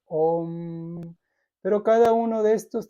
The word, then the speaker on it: om: la y la u se juntan se pronuncia o entonces por eso es om pero cada uno de